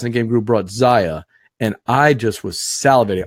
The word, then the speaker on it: Xia: salivating watching them play Zaya. It's spelled XIA. Yep, Zaya Legends of a Drift System.